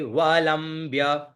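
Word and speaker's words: वलम्ब्य: गले वलंब्य गले वलंब्य व ल आधा म आधा ब और य तो क्या उच्चारण करेंगे गले वलंब्य लंबिताम ठीक है भुजंग भुज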